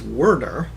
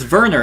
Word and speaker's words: Werner: names right immediately and you're saying it in german it's werner it's yeah you're right no it's not it's no it's verner and it's w-e i know oh yeah right with the v this whole time germans